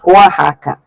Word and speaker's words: Oaxaca: do Pacífico, mas é muito serra, então chama Oaxaca. Oaxaca. Se escreve Oaxaca.